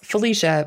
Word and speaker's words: Phylicia: real quick yeah so it's felicia but it's spelled p h y l i c i a and then my last name is spelled just like it sounds yeah yeah yeah your first name is the one that's like okay it's felicia it's ph though yeah there are no